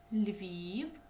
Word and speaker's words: Львів: Київ наголос на и у слові Львів у нас один голосний звук він значить він буде у нас наголошений Львів один Одеса наголос на е Харків